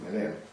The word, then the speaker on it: Meneame: Entonces pues no puedes pronunciar MNM, Meneame.